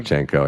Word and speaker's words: Shevchenko: I thought his match against Shevchenko is how you say his last name? Shevchenko, yeah.